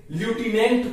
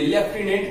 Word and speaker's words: lieutenant: हालांकि हम हिंदी मीडियम वाले अगर बच्चे बात करें तो उसे ल्यूटिनेंट प्रोनाउंसिएशन करेंगे, लेकिन इसे हम भारतीय लेफ्टिनेंट करके पुकारते हैं, बोलने में लाते हैं।